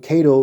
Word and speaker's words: Caddo: But Cato is spelled Caddo.